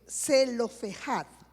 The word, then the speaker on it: Zelofehad: Allí narra que 5 hijas de Zelofehad, así se pronuncia, Zelofehad, quien había muerto en el desierto, se presentaron ante Moisés.